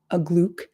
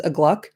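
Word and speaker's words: Uglúk: I study now shouted Ugluck Agluke. I'm really trying to say his name correctly. I say it in my head as Agluck, which is wrong. So I got to say it like Augustus Gloop.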